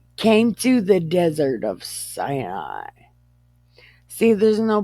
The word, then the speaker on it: Sinai: to the desert of Sinai see there's no pronunciation on this word so it would be Sinai right because s-i-n is sin a i is I than I and